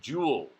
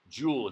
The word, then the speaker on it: joule: Celsius scale Kelvin scale absolute zero energy it's pronounced Joule Joule at the name the last name of a